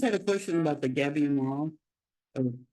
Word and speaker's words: gabion: Gabion is the spelling, and it's pronounced Gabion.